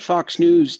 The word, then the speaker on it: Fox News: But they always go Fox News and they stop news. They realize that the X is silent.